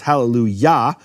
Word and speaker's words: hallelujah: And what happens because of that is the kamat of Yah, which Yah is always the emphasized syllable, it's hallelujah, that then shifts to a shva, or vice versa.